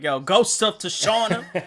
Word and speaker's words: Tsushima: Like, the T is definitely silent. It is definitely Tsushima. No, Tsushima, Tsushima, Tsunami, Tsunami.